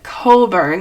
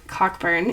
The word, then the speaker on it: Cockburn: learned her name is Colburn you're supposed to pronounce it that way not cockburn even though that's how it's spelled anyway this is her